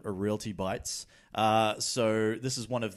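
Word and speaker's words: Realty Bites: is one of the well done for pronouncing that correctly by the way when we were talking about this I was reading an excerpt from the book and I accidentally said reality bites and did they write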